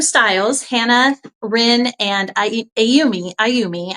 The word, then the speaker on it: Ayumi: Aayumi, I think it's pronounced, spelled a Y u m I if you're looking for it on the site.